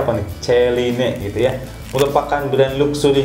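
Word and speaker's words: Céline: Selanjutnya nomor 50 ada brand dari Celine atau Celine, dibacanya apa nih? Celine gitu ya.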